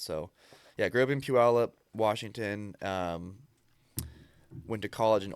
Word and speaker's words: Puyallup: reads where I'm from, they butcher it. They're like Puyallup. There's a bunch of like tribal land in Washington, so a bunch of names that most people don't know how to pronounce.